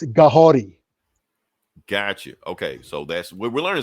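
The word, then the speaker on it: Kahhori: Kahari, am I saying the name right? Kahori. Okay, it's Mohawk. So the Mohawk language, they pronounce their K's like G's, and their R's like D's. So it's Kahori.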